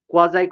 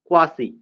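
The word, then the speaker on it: quasi: কোয়াজাই contract, কোয়াজাই contract শব্দটার অর্থ, এর উচ্চারণটা হবে কোয়াজাই, নট কোয়াসি, কোয়াজাই, কোয়াজাই কন্ট্রাক্ট, এটা একটা ল্যাটিন টার্ম।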